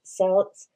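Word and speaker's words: Celts: information we have about the Kelts I know some people pronounce it Sals has to do with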